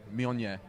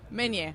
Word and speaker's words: Meunier: Allora io lo pronuncio male. Meunier. Meunier. Yeah. Exactly. Meunier.